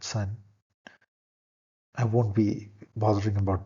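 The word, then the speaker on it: 三: and purely symbolic manner this is Sun s-a-n the tone is high flat Sun I won't be bothering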